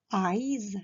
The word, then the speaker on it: eyes: à ivan les yeux attention à la prononciation de chevaux larmes eyes ça commence par le son aïe comme quand on se fait mal eyes et le dernier censé le sont heureuses eyes les yeux dans ces